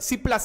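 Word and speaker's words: Cipla: चलो next next फटाफट C plus C plus founded D chemical industry pharmaceutical laboratory सिप अरे सी आई पी ल और ए साइलेंट है तो ऐसा समझ लेना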